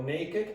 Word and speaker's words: naked: But not for adjectives. There are many exceptions of this. So naked, and this is pronounced wicked.